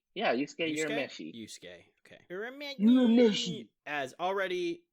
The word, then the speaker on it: Yusuke Urameshi: Basically open up with your pronounce his name for me, because I'm gonna who? Yusuke Urameshi? Yeah, Yusuke Urameshi.